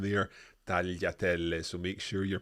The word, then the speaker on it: tagliatelle: Tagliatelle. Tagliatelle. Yeah, this is a word that you absolutely have to pronounce correctly. We cannot hear any strong G sound in there. Tagliatelle.